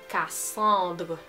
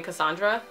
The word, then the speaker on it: Cassandre: My name ends with an E. A lot of people think it's a typo. It's not a typo. It's pronounced Cassandre, right? It's very French.